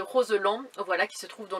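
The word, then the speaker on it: Roselend: dis le barrage de Roseland c'est pas comme ça qu'on dit je l'ai appris après je sais pas pourquoi je le prononcé à l'anglaise mais c'est le barrage de Roseland voilà qui se trouve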